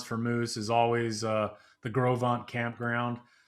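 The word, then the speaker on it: Gros Ventre: The best place to go in the Tetons for moose is always the Gros campground, which pronounced Gros, which is pronounced Gros in French because it's a French name, and Vent is Ventre.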